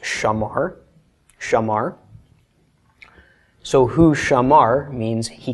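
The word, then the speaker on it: שמר: come up with Shing Komets mem Papa race pronounced Shama heart Shamar so who Shamar means he kept or he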